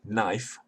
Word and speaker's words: knife: k n we have knife which is now pronounced knife khanifa in chaucerian english was still returned to